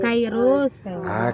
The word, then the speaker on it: Kairos: Anong gusto mong Cyrus, nickname? Say-say. Ano? Seros lang. Teros. Ano? Hindi po yung pag-pronounce. Ano yun? Yung pangalan ko kasi yung spelling nun. K-A-I. Kairos. Kairos.